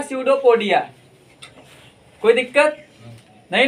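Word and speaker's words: pseudopodia: में क्या बोलते हैं, स्यूडोपोडिया। ठीक है ना, इसमें पी साइलेंट होता है, और ये पैर जो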